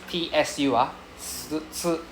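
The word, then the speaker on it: つ: Okay, next we have Okay, the pronunciation is t su, right? you know tsunami tsunami right so it's not really s it's not su sound it's t su so in Chinese character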